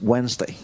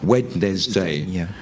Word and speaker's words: Wednesday: If you were really pronouncing it phonetically, Wednesday. But it's actually, you forget the D. Completely.